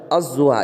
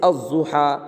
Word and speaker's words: الضحیٰ: اور لام آیا مگر لام کا تلفظ نہیں ہوگا، لام کے بعد جو حرف ہے نا ضاد، اس پر کیا ہے، تشدید ہے، کیا ہے، تشدید ہے، وہ استعمال میں آئے گا۔ جیسے الضحیٰ، الرحیم وغیرہ۔ بات سمجھ میں آ گئی؟